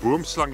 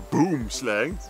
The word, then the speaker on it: boomslang: In English, the boomslang is actually the name of a snake. Yeah, it It's a translates translation. to tree snake. The tree snake. But yeah, it's pronounced boomslang in Afrikaans.